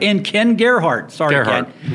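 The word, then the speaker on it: Gerhard: Gerard. Oh, that's right. And Ken Gerhart. Sorry, Gerhart. Ken.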